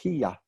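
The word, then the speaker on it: היא: And interestingly enough, not in biblical Hebrew and not in modern Hebrew, but in the Hebrew in Qumran, the Dead Sea Scrolls, this was pronounced hiya.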